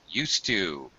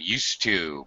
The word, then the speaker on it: used to: to pronounce used to used to uh it's most certainly going to have a t sound used to because we have the